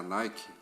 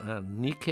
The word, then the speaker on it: Nike: A mesma grafia, só que a pronúncia não é a moda inglesa. Nike é a deusa da vitória.